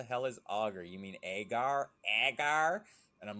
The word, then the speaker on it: agar: so I essentially use agar plates for long-term storage if you properly wrap an an egg you guys gotta forgive me for my pronunciation of agar to be honest in Michigan everybody says auger foreign because you you